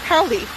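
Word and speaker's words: Paoli: look it up today it's p-a-o-l-i and it's pronounced paulie there was a large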